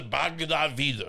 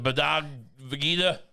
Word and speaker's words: Bhagavad Gita: The man who famously loves the Bhagavad Gita. Is that how you say it? The Bhagavad Gita?